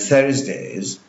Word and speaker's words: Thursday: On Tuesdays and Thursdays, I want you to notice here the pronunciation of Thursday. Thursday. Thursday. Please don't say Saturday like many people say. It is Thursday.